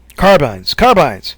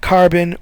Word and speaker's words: carbine: They still have the Colts and the carbines. That's how you say it. Carbines. Not carbon or combines. It's carbines.